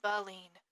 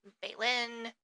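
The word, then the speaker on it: baleen: And yes, it is pronounced balene. I made sure to double check my pronunciation because I'd heard it pronounced a few different ways like baen, balen, but it is balen.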